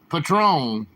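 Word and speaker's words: Patrón: cheers Patron excuse me did I call it Patron Patron with a long o it's Patron coworker gave it to you that's cool that's another thing I've never had Patron I've never had Patron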